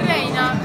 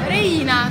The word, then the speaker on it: Reina: particolarmente Beh simpatizzo per Reina Reina Scusi ho sbagliato l'accento re perché come para